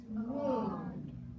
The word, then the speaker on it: womb: And then, so we just remember the letter B can be silent.